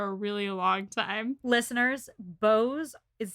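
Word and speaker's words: beaux: about bows for a really long time listeners bose is spelled b-a-u-x b-e-a-u-x c-e-a-u-x sorry i was burping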